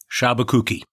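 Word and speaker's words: Sciabacucchi: to business scholarship podcast the case name is pronounced shabakooki all right great i know that's been a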